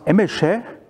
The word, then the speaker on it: Emese: my surname is pronounced Emese. This is an Hungarian name, and I'm known by somebody, a few, by, which is my company name.